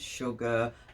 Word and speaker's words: sugar: that don't make sense sugar you get the sh sound but it's spelled s u already telling your brain